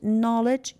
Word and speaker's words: knowledge: Knowledge, K is silent.